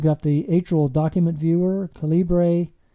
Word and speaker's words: calibre: the atrial document viewer calibre or caliber i think it's what most people how they pronounce it i had to install